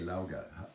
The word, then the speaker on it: Laugar: I say Laugar. How do you pronounce it? Laugar. Laugar. Laugar. Like the in chauffeur. Laugar.